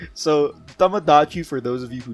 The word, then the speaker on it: Tamagotchi: Well, I'm just saying that I never had a Tomadama. What? A Tamadamada? Tomadama because, yeah, that's the point. Since I don't own one. I don't know how to pronounce Yeah, it's a Tamagotchi.